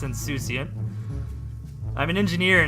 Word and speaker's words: Insouciant: Insocuent? How do you say that? Insouciant. Oh, let's hear it. Hang on. Insouciant. Insouciant. Showing a casual lack of concern. Indifferent. Insouciant. Insouciant. That's how you say it.